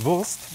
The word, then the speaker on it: Wurst: Wurst.